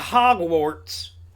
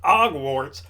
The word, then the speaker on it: Hogwarts: There's an American flag because we kicked them goddamn commies out of Hogwarts. Not Hogwarts, Hogwarts. Because we pronounce the H here in America.